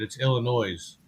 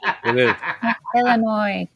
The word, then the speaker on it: Illinois: way you mispronounce it it's Illinois no no no it is not ill you not French isn't silent you're not French the isn't silent no the s is silence it is Illinois yeah yeah all right